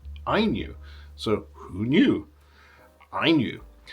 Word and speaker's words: INIU: so you'll notice that I have changed my pronunciation of the brand name it's not Inu uh as I was saying earlier in the video uh the people at Inu have told me that it's pronounced IU so who knew I knew anyway I knew